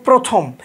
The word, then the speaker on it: প্রথম: র ফালা থাকে তাহলে আদ্য অ এর উচ্চারণ ওর মতো বা ও কার এর মত উচ্চারণ হবে তাহলে উদাহরণ আমরা লিখেছি দুইটা একটা হচ্ছে প্রথম আরেকটা প্রভাত একটা প্রথম